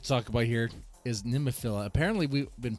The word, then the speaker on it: Nemophila: NEMOPHILIA could exist.